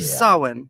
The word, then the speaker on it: Samhain: Samhain. How do you go about pronouncing it?